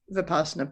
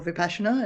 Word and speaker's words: vipassana: uh Vietnamese tradition of vapassana practice or vipassana as if you're pronouncing it in the Sanskrit and and that's been